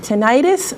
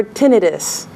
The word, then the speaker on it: tinnitus: talking about is it tinnitus or tinnitus either either way is fine it depends on what part of the country you come from in the west they